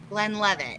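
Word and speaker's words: Glenlivet: really good shot dude wait say it again gwen with it glenn levitt you said it right yeah it's a good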